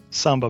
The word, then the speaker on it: Samba: in London, and the uh Samba is that pronounced Samba? Samba Bank to Tower.